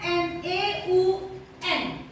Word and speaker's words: neun: Nah, angka 9 tulisannya N-E-U-N. Nah, kalau dalam bahasa Jerman EU itu dibaca menjadi OI, ya, neun, gitu ya, neun.